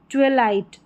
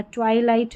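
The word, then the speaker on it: twilight: जैसे ट्विस्ट 12 twin यहां पर है ट्विलाइट ट्वलाइट करके पढ़ना ट्वाईलाइट नहीं आप ट्वलाइट करके भी पढ़ सकते हैं यह है ट्विंकल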